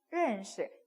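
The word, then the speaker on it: 认识: 认识 뒤에는 경성입니다. 认识 가볍게 시 내려주시면 돼요.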